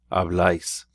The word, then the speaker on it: habláis: But the ending would be pronounced ice. Habláis.